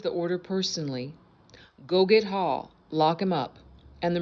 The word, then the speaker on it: Haugh: Marines arrested General Tim Hall. I think I'm pronouncing that correctly. It's Haugh, former head of U.S.